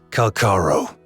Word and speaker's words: Calcharo: Apparently his name is actually pronounced Calcharo.